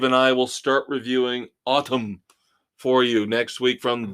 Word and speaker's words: Atum: Billy Corgan swears it's pronounced Autumn.